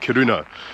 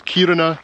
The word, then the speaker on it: Kiruna: Now, I think I've been saying it wrong. I've been calling it Kiruna, but the stress should be at the start of the word, so it's Kiruna.